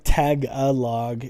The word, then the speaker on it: Tagalog: It looks like tag-a-log, but I keep trying to spell it like tag-o-log, but it's Tagalog.